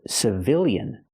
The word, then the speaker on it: civilian: But what if I change the word to civilian? Well, now the stress changes. The stress is on the second syllable, so we use the short I sound.